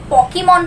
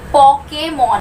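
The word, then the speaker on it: Pokémon: Example, पोकेमॉन Japanese word है, काफी लोगों को देखा है इसको पोकेमॉन प्रोनाउंस करते हुए, बट ये होता है पोकेमॉन। तो इसको हम कैसे प्रोनाउंस कर रहे हैं? पोकेमॉन। इधर ओ है तो इधर भी पो की साउंड आ रही है, इधर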